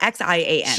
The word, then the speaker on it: Xi'an: It's X I A N Xi'an, Xi'an.